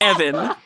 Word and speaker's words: Even: His original form is named Evan. It's spelled even. It's pronounced Evan.